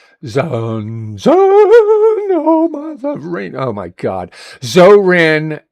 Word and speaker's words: Zohran: Zoran Mandamit. That's how his how his name is said.